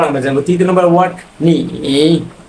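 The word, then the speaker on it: 你: ওয়া মানে হচ্ছে এখানে উচ্চারণ, এই চাইনিজটা যারা উচ্চারণ করতে পারবে না তাদের জন্য এখানে উচ্চারণ রয়েছে ওয়া।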